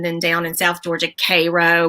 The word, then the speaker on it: Cairo: We've got Georgia has, Athens, and then down in South Georgia, Cairo. We pronounce it Cairo, but Cairo, it's spelled like Cairo, Egypt. All that.